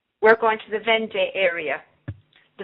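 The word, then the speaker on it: Vendée: We're going to the Vende area, the Vonde. I'm probably pronouncing it correctly.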